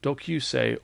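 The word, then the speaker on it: 同級生: new one-shot manga entitled dks40 it's pronounced dokusei or classmate and this one shot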